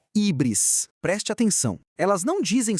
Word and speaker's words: híbris: Então, híbris, que a gente pode pronunciar ubris em português, é um termo lá da Grécia Antiga.